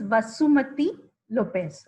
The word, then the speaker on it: Vasumati Lopez: so much hi everyone i think shaida pronounced my name a little different so i'm going to tell you my correct pronunciation first my name is vasumati lopez so you can just